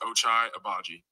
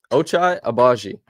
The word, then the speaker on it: Ochai Agbaji: People that don't know my name and how to say it, it's pronounced Ochai Agbaji. There we go. Ochai Agbaji.